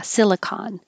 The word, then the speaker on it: silicon: first one they have they have different endings uh silicon with an ah silicon with the e silicone silicon valley and silicone